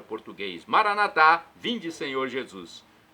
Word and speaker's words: Maranata: Jesus para o português Maranata vinde Senhor Jesus nossos irmãos separados irmãos dos católicos os evangélicos ou protestantes dizem Maranata com a tônica na penúltima sílaba nós colocamos a tônica na última não importa o significado